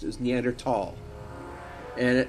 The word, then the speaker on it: Neanderthal: Like the H in there was just not pronounced. It was Neanderthal.